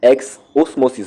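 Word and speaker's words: exosmosis: X osmosis will happen. X osmosis is spelled EX-OSMOSIS.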